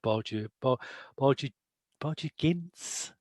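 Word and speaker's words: Borgia Ginz: I mean, I think the key indicator of it is the character of Borgia Gintz. Is that how we pronounce it?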